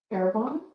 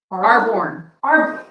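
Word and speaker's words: Arbonne: Because Kristen will have her Airborne? Arborn.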